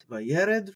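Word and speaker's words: וַיֵּרֶד: So we have Vayared, Vayared, Vayared, Vayared, rather, in terms of pronunciation.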